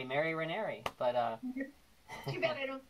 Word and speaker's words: Ranieri: Ranieri, six letters, and it rhymes with canary. Exactly. But there's an even, it actually rhymes with Mary, it. Mary Ranieri.